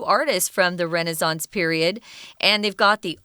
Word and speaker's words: Renaissance: Yeah, and Renaissance is the American pronunciation. I believe if you go to England, you'll probably hear Renaissance. It is Renaissance in England. As their pronunciation. But we'll use the American pronunciation since we are Yankees here.